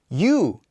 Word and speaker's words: ㅠ: upside down in fact this one is pronounced as you you we previously learned the